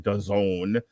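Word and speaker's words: DAZN: versus josh warrington on dazon which rhymes with calzone uh we got tim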